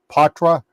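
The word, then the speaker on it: Poitras: You got that Matt Patra, that's how he pronounces it.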